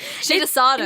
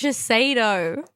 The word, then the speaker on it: Shiseido: Shidasado. No, it's Shiseido. Shidasado is... Oh, okay, it's just spelled wrong. I just use it. Okay. You bought it. I didn't buy It's the Shiseido eyelash curler.